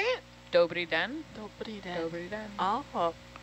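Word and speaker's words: Dobrý den: Dobri den.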